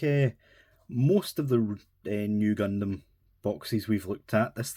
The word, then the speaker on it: Nu: But yeah, um we've got the RX 93 FF new fighter. That V is pronounced new.